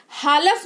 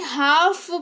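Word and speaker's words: half: हालफ नहीं हाफ पढ़ेंगे यानी कि आधा, ठीक है।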